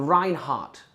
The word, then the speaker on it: Reinhardt: The Reinhardt principle. The with a silent D.